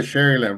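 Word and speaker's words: Sharyland: grew up in South Texas how do you pronounce that is it Shar land sh sh yes sir Sher land very proud to be from there it's uh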